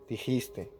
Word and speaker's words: dijiste: no dijiste es verdad los verbos en segunda persona en indicativo no se pronuncian con esa s final no no se puede ir by las tres jugaste ya no jugaste bailaste dijiste ya sin esa s nadie es obviamente el